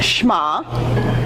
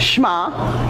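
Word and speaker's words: שמע: That's how that's pronounced, Shema. Say it. Shema.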